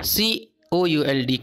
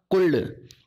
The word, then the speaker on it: could: That I could, C O U L D could, here L is silent. Okay, L is silent, this is not could, this is could, C O U L D could, here L is silent.